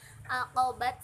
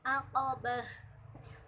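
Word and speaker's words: عقبة: Falaqta hamal aqabah, bukan aqabat tapi aqabah.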